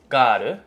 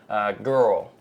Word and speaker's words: girl: A word is also difficult, but in Japanese, it's pronounced as garu, but in English, it's pronounced as girl.